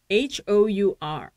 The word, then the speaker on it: hour: hour, H-O-U-R, hour, 시간 또는 honor, 영광 그럴 때는 an hour, an honor It is an honor.